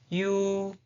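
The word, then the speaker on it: ㅠ: The next one, you, you, you. The pronunciation is you, you, you, you, you, you, you, you.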